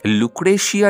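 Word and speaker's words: Lucrezia: তার রানী ছিলে হচ্ছে লুক্রেসিয়া ডি মেডিসি ওকে কোথাও কোথাও তোমরা লুক্রেসিয়াও পাবে কারণ জের যেমন দন্তাস উচ্চারণ হয় তেমন কিন্তু জ উচ্চারণ হয় তো লুক্রেসিয়া ডি মেডিসি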